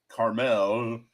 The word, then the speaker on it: Carmel: called Pitos in um Carmel. It's it's caramel, but it's you know the people that live there pronounce it. Caramel garlic caramel.